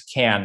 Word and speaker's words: Kern: It's pronounced as Kern, right?